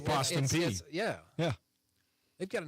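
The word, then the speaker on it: Austin Peay: ask you how to say it's p it's Austin P yeah yeah they've got a nice little arena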